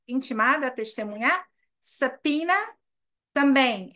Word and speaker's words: subpoena: Subpoena também é uma palavra bem difícil de se soletrar. S-U-B-P-O-E-N-A. Tem o B, mas o B também é mudo.